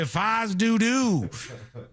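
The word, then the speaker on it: fais do-do: Uh, I'm shocked you aren't familiar with the term fis dudu or fodo from doodoo. That's how they say it. The locals say faz doodoo.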